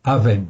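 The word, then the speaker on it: אָוֶן: en fait en hébreu l'iniquité c'est Avon en fait en hébreu l'injustice c'est avens ça se prononce presque pareil mais c'est pas tout à fait pareil c'est même très différent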